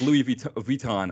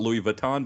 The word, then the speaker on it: Louis Vuitton: It's like Louis Vuitton. I try to say it right but the French way. In America they call it Louis Vuitton, but it's instead of Vuitton.